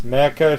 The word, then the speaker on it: Mecha: Say it correctly. Mega Shark versus... Mecha Shark versus who cares?